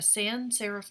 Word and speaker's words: sans-serif: is from the French in French it means without so a sans-serif typeface and my sister speaks French and she finds the pronunciation here hideous but in English we say sans-serif it means without sera